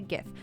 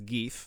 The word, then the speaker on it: GIF: be i mean well it can't be geef you can't pronounce gif as geef that's wrong obviously uh but chief